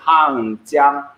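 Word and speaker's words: 한강: So in Korean, we have Hangang. Hangang, yes. When we pronounce it in Chinese, it's Hangjiang.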